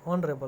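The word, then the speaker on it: honourable: क्योंकि एच है वो साइलेंट है, और इसका प्रोनाउंसिएशन होता है ओ से ऑनरेबल, और ओ है वो स्वर है, इसलिए आगे एन आया।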